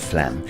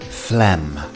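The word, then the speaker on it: phlegm: at the pronunciation of Flem and as you can see on screen the pH is pronounced as an f and we have a silent G so this word is quite deceptive Flem next up we have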